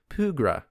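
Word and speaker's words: pẃrga: Now, when you face the enemy in the game that is a P-W-R-G-A, you know that that's a Pugra, because the W has an accent over it.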